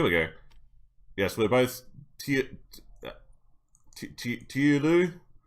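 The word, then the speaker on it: Teulu: Tiulu? Pronounced Tiulu. Oh my god. Family. Ah, okay. Hello. No, you take too long. Here we go. Taily. Welsh! Why are you so difficult? So, T-E-U-L-U is Taily.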